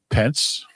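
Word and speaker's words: Pentz: His real name is Thomas Wesley Pence. Rhymes with Wentz.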